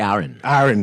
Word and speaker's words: Aaron: Yes, and earlier we spoke to Arian Thompson. I just pronounced his name. It's actually Aaron.